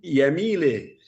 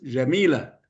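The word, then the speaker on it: جميلة: Lo pusieron Yamile, en árabe es Yamila, pronunciado según la fonética de la zona esta de Siria y Líbano.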